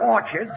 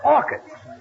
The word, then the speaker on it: orchids: bought her some Orchards it's not Orchards it's orchids the CH is pronounced by K oh what movie did